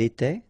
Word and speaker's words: était: Remember, final S, here, here, final T, and then here, E-N-T, you don't pronounce them. So you will get était, okay, for all these forms, okay?